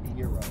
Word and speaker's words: Gyro: But I've always been taught that it's pronounced Euro.